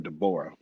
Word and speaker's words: Deborah: Deborah, if you all know Debbie, she tells us all to pronounce her name Deborah.